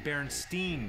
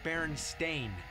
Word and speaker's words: Berenstain: game whatever it is Oh you mean Berenstein Bears no apparently it's Baron stain well Baron stain is